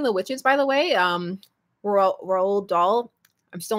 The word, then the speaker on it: Roald Dahl: Roald Dahl. I'm still not over the fact that that's how you pronounce his name.